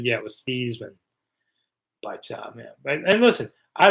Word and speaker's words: Theismann: Michael says Theismann changed his name to rhyme with Heisman. Yeah, it was Theismann.